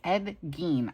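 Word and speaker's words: Gein: Ed Gene.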